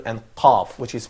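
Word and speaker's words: ق: and I would keep saying that is qaf is an emphatic sound, kaf it's not in this way.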